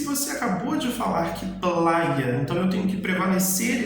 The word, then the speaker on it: playa: A Y ela sempre vai ter o mesmo som da letra I. Por exemplo, a palavra praia em espanhol, ela se escreve P-L-A-Y-A. Então eu falo playa, ok?